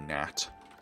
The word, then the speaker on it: gnat: Yeah, it's called a gnat. The G is silent though.